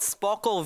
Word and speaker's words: Sparkol: It's called Sparkle Video Scribe. Spell that?